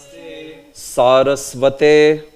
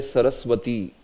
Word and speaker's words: Sarasvate: Namaste, Sarasvate. So remember this. This is a mistake done by many. They will say Saraswati. So yesterday we discussed this. Remember, it is not Saraswati.